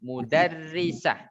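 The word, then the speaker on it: مدرّسة: Nah, ini ro kan ada tasdid ya. Ditekan mudarrisah. Mudarrisah.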